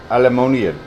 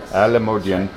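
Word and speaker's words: Alimodian: So it's Alisan District Hospital, but it's in Alamodian. Alamodian, Iloilo.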